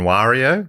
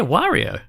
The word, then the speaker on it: Wario: Wario Mario and Wario a lot of people say Wario Wario but it is Wario I don't know I think it's Wario yeah good rhymes with Mario yeah that makes more